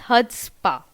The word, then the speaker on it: chutzpah: Next word comes chutzpah. That means extreme self-confidence. In this word chutzpah, C is silent. So kindly read it properly. That it's chutzpah. For example, I have to admire the chutzpah he has in doing it.